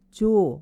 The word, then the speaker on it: yo: 이거는 스페인어로 발음할 때는 요가 아니라 조, Y가 J처럼 소리가 나더라고요.